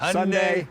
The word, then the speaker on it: Hyundai: name of the car, it rhymes with Sunday. Always. Hyundai, Hyundai. like Sunday.